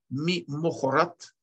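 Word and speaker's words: ממחרת: Вайги ми мохорат. Слово это читается именно так.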